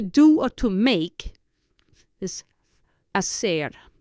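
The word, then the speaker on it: hacer: or to make is a it's both h a c e r again the H is not pronounced so you have a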